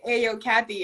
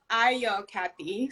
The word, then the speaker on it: Ayocathy: um but it's pronounced i yo kathy so a as an apple like the a sounds like an apple uh a an apple